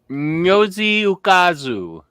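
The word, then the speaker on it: Ngozi Ukazu: How do you pronounce it? Oh, Nyozi Ukazu.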